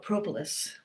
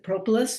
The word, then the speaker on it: propolis: this talk is why should why care about propolis and I'm going to pronounce it propolis but I think propolis is fine too tomato